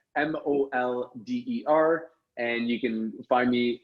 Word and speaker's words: Molder: just Google my name, Mulder, like Fox Mulder, X-Files for all you sci-fi freaks. So that's Molder.